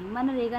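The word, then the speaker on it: MGNREGA: मनरेगा नहीं मनरेगा नहीं है। ये एमजी एन ये समथिंग तो कुछ अलग है। मनरेगा ऐसे प्रोनाउंस हो गया।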